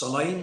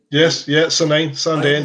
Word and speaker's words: Sandend: Well, Glenglassaugh, yeah, it's Sanine, is it called? Sandend, yeah, that's right. I've got to pronounce it.